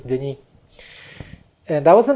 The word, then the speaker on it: Denis: In English I go by Dennis, but actually in French it's Denis.